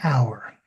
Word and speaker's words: hour: Hour is an hour. And why is that? It's because hour, even though it starts with the letter H, the H is not pronounced.